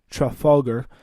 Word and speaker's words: Trafalgar: major battle which is about a truffle agar Trafalgar as how it's pronounced this naval defeat was